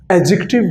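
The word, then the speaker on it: adjective: इसका सही pronunciation एडजेक्टिव है, क्योंकि डी के बाद जे आ गया, और हमने रूल पहले पढ़ा है कि अगर डी के बाद जी या जे आ जाए तो ऐसा डी नहीं पढ़ा जाता।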